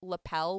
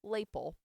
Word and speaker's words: lapel: We're talking into my early 30s thought the word lapel was pronounced label.